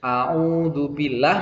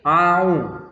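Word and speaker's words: أعوذ بالله: sehingga menyerupai huruf ain, sehingga ketika membaca au yang seharusnya a'udzubillah menjadi au. Nah, itu adalah kesalahan. Jadi tidak boleh membaca huruf alif dengan seperti ain.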